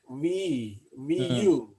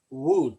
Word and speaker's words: Wu: name was Tuan Wu, like VU. And I used to say like Wu, Tuan Wu. No, my engineer friend said, no, that's not how you say it.